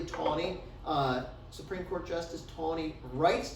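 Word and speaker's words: Taney: This man named, that's pronounced typically Tawney, Supreme Court Justice Tawney,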